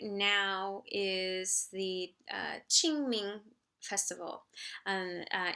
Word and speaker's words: Qingming: ming festival and uh in pinyon that's spelled q i n g m i n g and the q in chinese is a ch ch sound ching um so ching ming and um this festival